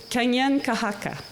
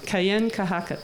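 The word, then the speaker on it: Kanienʼkehá:ka: un Mohawk, and Kate helped me with the pronunciation in actual Mohawk again. Kanyen Kahaka. That's how you would say it in what we call Mohawk. Kayen Kahaka.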